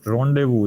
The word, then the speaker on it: rendezvous: Rendezvous, it is the pronunciation of this word, right?